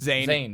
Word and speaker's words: Zayn: Is Zayn.